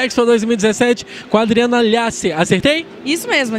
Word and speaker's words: Llacer: Gente, nós estamos aqui na Expo 2017 com a Adriana Lhasser. Acertei? Isso mesmo, Lhasser. Como é que se pronuncia?